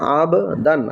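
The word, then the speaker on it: أبدان: দান কি হলো আবদান এখানেও বাটা কলকলা করে পড়তে হবে। উচ্চারণ হবে আবদান আইন বা জবর আব দাল আলিফ দুই জবর দান আবদান।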